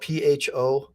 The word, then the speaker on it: pho: if you've never had pho, but it's spelled Pho, but it's pho, it's Vietnamese soup.